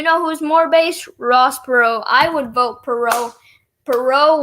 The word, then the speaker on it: Perot: Yeah, Perot all the way.